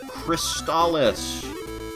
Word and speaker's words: Crystalis: on television for this game the announcer says cristalis pronounced as such although that's that's sort of a